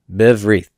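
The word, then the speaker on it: בברית: And we'll talk about that in chapter 4, but this will be pronounced biv, silent Shiva, wreath. Biv, wreath. Okay, so b, berith becomes biv, wreath.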